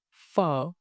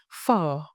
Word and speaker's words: Phở: By the end of this lesson, you will be able to shape your lips to produce the f sound clearly.